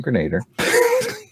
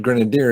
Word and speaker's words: Grenadier: out at marvel comics often mispronounced by pat as the iron grenader and yeah good that's the grenader all right i put grenadier in my uh that's